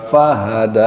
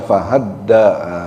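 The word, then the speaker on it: هدى: walladzi qda fa fahada bukan fahadda itu enggak ada tasdidnya dalnya fahada walladzi qd qada walladzi akraq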